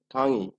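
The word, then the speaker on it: 강의: আছে এখানে খাং উই আমরা যখন উচ্চারণ করব তখন কি উচ্চারণ হচ্ছে খাং উই বা খাং এখানে আমরা কি উচ্চারণ করব যেহেতু এই প্রথম রুলসের মতই আমাদের এই রুলসটা হচ্ছে একটা বর্ণের পরে কি আছে উই আছে এটাও আমরা কি উচ্চারণ করব ইর মত উচ্চারণ করব তাহলে কি হবে খাঙ্গি খাঙ্গি এখন এই খাঙ্গি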